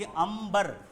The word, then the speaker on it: अंबर: भी होता है उच्चारण जैसे अंबर इसको तोड़ेंगे तो बीच में म का उच्चारण आ रहा है अंबर म आ रहा है तो म की जगह में ये बिंदी दे दिया ठीक है यह तुम्हारा